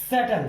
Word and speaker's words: subtle: अगला SUBTLE, ये बनता है सटल। हम इसको सटल नहीं कह सकते क्योंकि टी से पहले बी आया हुआ है, इसलिए हमने बी को कर दिया साइलेंट। तो बी को साइलेंट करने की वजह से बी की ध्वनि नहीं आई और उसकी वजह से हमने इसको पढ़ा सटल।